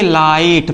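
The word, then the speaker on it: light: एच आ गया तो इसे हम क्या पढ़ेंगे लाइट पढ़ेंगे क्या पढ़ेंगे लाइट पढ़ेंगे मिला हमने लिखा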